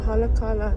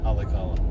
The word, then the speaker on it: Haleakala: chu National Park pakhat chau oma chu tlang Haleakala ti ania tuna hian kan lon me ka